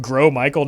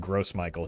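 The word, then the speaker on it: Gros Michel: had a good stream French speaker here it's pronounced grow Michael not gross I'm sorry but this is America and it's pronounced gross Michael he's disgusting and we don't talk about it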